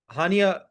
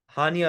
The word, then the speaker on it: Haniya: हानिया wrong. अच्छा, then there is अ हनिया and then there is अ हानिया। ऐसे ही है। HANIA हनिया एंड HANIYA हानिया। That's how pronounce your name, right?